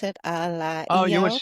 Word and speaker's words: Ala: Ala Oh, you would Iao. say like Allah, like Allah, they say.